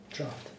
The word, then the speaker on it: draught: Draft. Huh? Draft. It's pronounced differently. Okay, Draft.